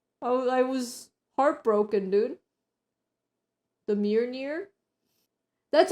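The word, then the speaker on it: Mjölnir: Simply Mjolnir. Mjolnir! Come on, man! That's pretty close. That's pretty close. That's pretty close! Don't Kate We are me. looking at how to pronounce nothing less than the hammer Mjolnir?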